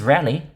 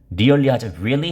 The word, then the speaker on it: Rally: My name is Rally. Just call me Rally. 그냥 다 랠리야 그냥. 여보, Rally? 오늘 CPI 잘 나왔어. 진짜? Rally? 이렇게 really 하지 않고 rally로 발음할 겁니다.